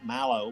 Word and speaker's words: marshmallow: Yeah, we put the accent on the first syllable. Marshmallow. Marshmallow. And we always say mellow, Marshmallow. like mellow down, dude, but it's mallow.